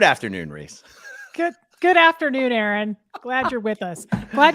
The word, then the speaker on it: Aaron: you say it the first time I said a a Ron because it's pronounced Aaron you're done messed up Hey Ron